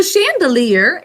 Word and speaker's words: chandelier: in them okay so chandelier is a french word the sh sound is ch but you all sounded out with me chandelier three syllables first syllable three sounds